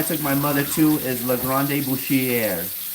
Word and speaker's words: La Grande Boucherie: The restaurant I took my mother to is La Grande Boucherie.